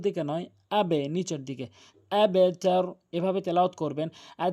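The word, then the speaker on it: أَبْتَر: এখানে অধিকাংশ লোক আবতার বলে, আবতার, এটি ভুল উচ্চারণ। সঠিক উচ্চারণ হচ্ছে আবেতার, আবেতার। কেননা বা কলকলা হরফ, কলকলা হরফ 5টি রয়েছে, বাজিম কফ দাল, বাজিম কফ দাল।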